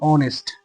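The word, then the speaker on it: honest: যেমন শি ইজ অ্যান অনেস্ট, এই যে অনেস্ট, এটা কিন্তু হনেস্ট না, এটা উচ্চারণ হচ্ছে অনেস্ট।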